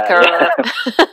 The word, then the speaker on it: Slackrr: And so for those that won't, it's spelt as in Slack, S-L-A-C-K, and then two R's, rather than that's E and right, R, yeah, Slackrr.